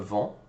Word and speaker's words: vends: Je vends. Notice, don't pronounce the S, don't pronounce the D.